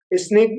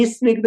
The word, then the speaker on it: स्निग्ध: बंधः, स्निग्ध, हाँ स्निग्ध, ऐसे ई स्निग्ध नहीं बोलना, बहुत से ई स्निग्ध बोलते हैं, नहीं, वो उच्चारण अशुद्ध है, हमारे लिए उच्चारण की शुद्धि भी होना चाहिए। स्निग्ध वृक्षत्वाद बंध, स्निग्ध, और स को बिल्कुल हल्का सा बोले, स्निग्ध वृक्षत्वाद बंधः, स्निग्ध